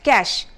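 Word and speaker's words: cache: right so it's C a is H it's pronounced as cash all right the spelling is CAS CH e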